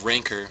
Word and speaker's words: Rancor: working on a three Rancor draw this game actually it's pronounced ranker rhymes with anchor common mistake you can just come